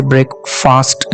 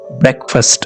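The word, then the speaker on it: breakfast: यहां पर देखिए ब्रेकफास्ट में ए लिखा तो जाता है लेकिन पढ़ा नहीं जाता, तो ये ए साइलेंट है। इसे ब्रेकफास्ट नहीं कहेंगे आप, ब्रेकफास्ट इस तरह से कहेंगे।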